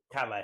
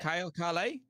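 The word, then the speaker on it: Kalle: This young guy, Carl. Is it Carl? Is that how you say his name? Calais. Calais?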